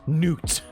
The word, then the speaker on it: Nutella: Nutella okay and yes apparently you're supposed to pronounce it Nutella and not Nutella okay it's not nut it's Newt not oh my goodness hi Celine